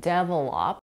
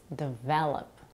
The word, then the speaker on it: develop: heard many non-native speakers put the primary stress of this word on the first syllable making it sound like develop which is incorrect the correct pronunciation is develop another example is the